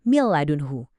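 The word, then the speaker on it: مِن لَّدُنْهُ: Nun di kata min ketemu sama lam. Langsung aja, suara nunnya lebur sempurna. Kita bacanya jadi mil ladunhu. Cepet, tegas, dan yang paling penting nggak ada dengung sama sekali.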